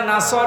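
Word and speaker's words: نصر: আছে নামাজে দাঁড়ালে পড়েছে এখানে এখানে সয়াদ আছে নাসর মানে সাহায্য আর নুন সিন র নাসর মানে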